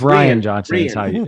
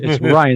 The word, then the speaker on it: Rian Johnson: It's Ryan Johnson. Ryan is how you pronounce it. Oh, I don't know. Ryan. Yeah. Well, he has it's just spelled weird.